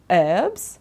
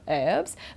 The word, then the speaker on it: herbs: difference okay uh in in American English they say herbs okay don't pronounce the h like teacher Robin if she was doing the class now you know she would say herbs but in British English we pronounce it we say herbs okay so you can